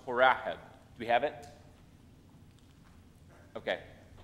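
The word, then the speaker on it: Horemheb: It's pronounced Horaheb.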